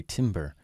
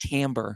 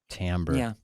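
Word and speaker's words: timbre: it tambra or Tim I always say timber because it's spelled Timber pretty sure it's pronounced tamber tamber I think you're right tamber I dated a girl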